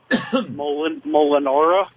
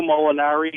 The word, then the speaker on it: Molinari: Your pronunciation of Mike Perico Yeah. and Eduardi Molinara or Marinara. What did you say? I don't know. What your point, John? It's Eduardo Molinari and Mike Perico.